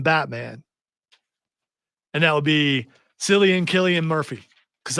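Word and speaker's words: Cillian: and that would be silan Killian Murphy because I don't know how to say his first name I think it's Killian yeah well I'm gonna go with selan because I like it better I should have said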